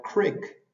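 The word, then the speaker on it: creek: de pronunciación por ejemplo la doble e suena como nuestra I a veces nosotros los profesores le llamamos la i sonriente como en la palabra Crick Arroyo o en Mission que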